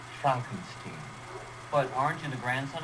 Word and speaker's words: Frankenstein: one question have to Frankenstein that's Franken scheme I think it's working my name is pronounced chomping scheme but orange and the grandson of the famous dr.